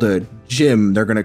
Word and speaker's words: GM: If you don't know, one of the like original mobile suits in Gundam is called the gym and it's spelled GM.